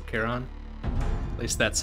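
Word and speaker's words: Chiron: get the pronunciation right i think it's a hard ch right so cairon at least that's how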